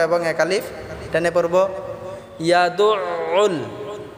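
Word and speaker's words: يَدُعُّ: ইয়াদুউল, দাল দিয়ে আইনকে ধরব। ইয়াদু, দু বলতে আমরা গলায় চাপ দিতে হবে, আবার উল একসাথে আমরা গলায় চাপ দিয়ে এই শব্দটিকে আমরা উচ্চারণ করব।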